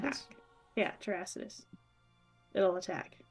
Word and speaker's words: Terrasitus: It Terrasitus? Will attack. Yeah, Terrasitus. It'll attack. Like Terrasitus. It's grass. Terra and Situs. Terrasitus. Terrasitus?